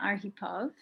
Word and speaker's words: Arhipov: and i am here to interview miss arghipov did i pronounce that correctly yes his last name who